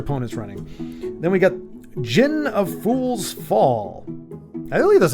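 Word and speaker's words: Djinn: running then we got Jin of Fool's fall I that's how you say it right the D is silent it's just Jin but it's a five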